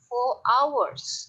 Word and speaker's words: hours: ini aku biasanya titik-titik Ours FB chat aku biasanya titik-titik Fort untuk sampai hours nanya ada tulisan hours and hours itu artinya bacanya Ours Ours ya bacanya Ours Hai artinya aku titik-titik